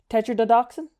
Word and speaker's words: tetrodotoxin: Oh, I would love to pronounce Let's see this. Oh, I actually know this from another animal. Tetro tetrodotoxin?